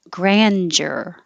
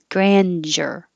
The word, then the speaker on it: grandeur: rebellious and this one you have lots of options the most common one the first one in the list of on the dictionary was grandeur with simple ja grandeur or you can make a d y combination grandeur deer or get